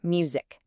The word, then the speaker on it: music: You've got the word music. Hear that hard C at the end? It's a C- sound.